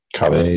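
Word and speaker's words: Ka'vi: You guys brew up some of the kavi that they enjoy over here. Kavi? I think that's the way it's pronounced. Kave if you're French. K-A apostrophe V-I.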